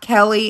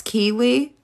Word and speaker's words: Keely: It's not Kelly, it's Keely.